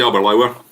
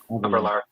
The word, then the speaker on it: Aberlour: I'd say Aberlour. Aberlour. Aberlour. Used to drive through there every day to get to Dulhuan. So good. It's a beautiful part of the world. Rhymes with sour.